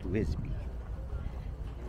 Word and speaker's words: Visby: is called Visby, and it's spelled with a V. But I think it's pronounced Visby. Yeah, which is opposite to what we're always taught. Every time you see a W, you pronounce it as a V. Yeah. But here, the V is pronounced as a W.